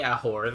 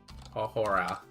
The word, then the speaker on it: ahora: You barely pronounce the H. It's in ahore. It's almost silent.